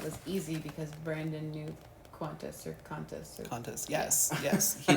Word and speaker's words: Qantas: is Russia, Mother Russia, Avianca, which is Colombia, Qantas, I think is how it's pronounced. Qantas.